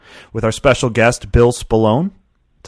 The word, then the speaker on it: Spallone: This is episode number 72 with our special guest, Bill Spallone.